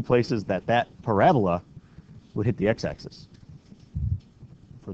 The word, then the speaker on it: parabola: For those of you that know what a parabola is, not a parabola. Because remember, you put the emphasis on the wrong syllable if you say it that way.